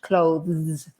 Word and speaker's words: clothes: Clothes. Stick your tongue between your teeth and you'll sound really English. Clothes.